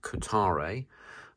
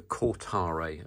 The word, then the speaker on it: Kotare: mid production model from Kotare. I think I pronounced that wrong again. It's a Kotare, apparently.